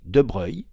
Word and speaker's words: de Broglie: cela mais c'est très important en 1924 Louis de Breuil on prononce comme ça se dit ben puisque la